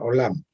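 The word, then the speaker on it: עולם: Antiguamente, entre los hebreos, los mundos, en hebreo se llama olam, en hebreo se pronuncia olam.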